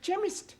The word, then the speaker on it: chemist: begin with a k it sounds like it begins with k CH H but that is making it chemist no the CH is